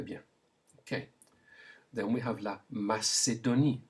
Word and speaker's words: la Macédonie: Then we have la Macédonie. Say it. La Macédonie, all with the S sound.